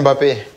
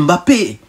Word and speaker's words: Mbappé: C'est Kylian Mbappé. Il n'y a pas d'apostrophe. C'est ça, Kylian Mbappé. Il n'y a pas d'apostrophe au milieu. Je m'appelle Mbappé.